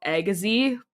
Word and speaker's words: Agassiz: A lot of my area is full of different North American names and whatnot, and we've got a city called Agassiz, but the way it's spelt, it looks like Assagiz.